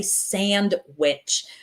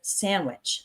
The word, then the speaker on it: sandwich: Muscle and the word sandwich. This might surprise you. We don't really say sandwich. When we say it fast, that D just kind of disappears. So, we say it like sandwich.